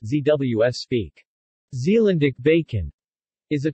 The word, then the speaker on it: Zeeuws spek: zu speck pronounced zws speak Zealand ich bacon is a traditional Dutch bacon